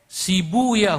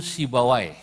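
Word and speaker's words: سيبويه: Sibuya huna, asluhu sibawai. Dalam satu lughat dibacanya sibuya, untuk menyesuaikan wazan. Sebab kalau pakai sibawai huna enggak ketemu wazannya. Maka saya pakai satu lughat yang membaca sibawai dengan sibuya.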